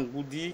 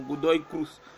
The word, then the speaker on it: Godoy Cruz: Je vais dans Goody qui est 13e. Je vois que Goody a aussi un problème de défense. Dans tous ses matchs, Goody a... Godoy, excusez-moi, je prononce mal son nom, Godoy Cruz.